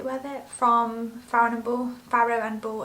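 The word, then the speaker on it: Farrow & Ball: whether from frowning ball pharaoh and ball i always say it wrong i want to say farron ball but it's not as far and ball um but yeah these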